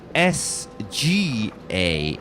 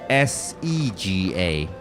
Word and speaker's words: Sega: Yeah, because you said SGA instead of SEGA.